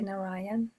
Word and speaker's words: Narayan: How do you say Narayan? Yes, Narayan. You've got it right.